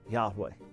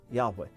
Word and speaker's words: Yahweh: year hey love hey the best scholarly reconstruction we have is that it was pronounced Yahweh Yahweh it would mean he